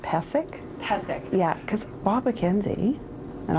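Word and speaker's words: Pysyk: year's broadcasters can you let people know it's pronounced passic yeah because Bob McKenzie and all these other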